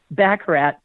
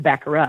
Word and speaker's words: baccarat: this online course to play baccarat or baccarat as it's pronounced, and she spent a